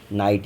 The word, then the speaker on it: knight: लेकिन ये क्या है, KNIGHT, इसमें के साइलेंट है, हम लोग इसको नाइट ही रीड करते हैं।